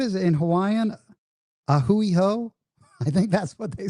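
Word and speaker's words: A hui hou: A hoouiho. I think that's what they say, man. Aloha. And a hooiho. I remember a hooui ho because I always remember it rhymes with like a dirty hoe, right?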